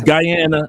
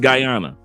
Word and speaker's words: Guyana: It's Guyana and Guyana.